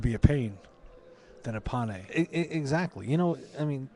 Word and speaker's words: Pane: do do you prefer going by pay or or P Pye right well the the the proper pronunciation is pan pan but um P just got tired of